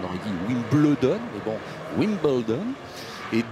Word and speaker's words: Wimbledon: 4 US Open, 2 Wimbledon, je prononce à l'anglaise. Vous savez que nous, on aurait dit Wimbledon, mais bon, Wimbledon.